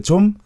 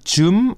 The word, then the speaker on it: 좀: Is it 좀 or 좀? 좀. It is 좀, but some people pronounce it as 좀. 문 좀 열어주세요. Yeah, some cases. But it's supposed to be 문 좀.